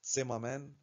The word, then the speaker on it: Zimmermann: يا جماعه هو طبعا زيمرمان ده عالم الماني هو اللي اكتشف الريجنت وطبعا يعني كمعلومة النجار في الالماني بس النطق المعروف والمشهور هو زيمر مان لكن هي اصلا سيما مان اللي هو النجار زي